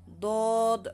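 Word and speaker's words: ض: niya katumbas na letra Dod ah pag pronounce naman dito sa d makapal siya makapal Nabong siya sa heavy letter Dod ang katulad siya sa sound ng Dolphin Dolphin do do do okay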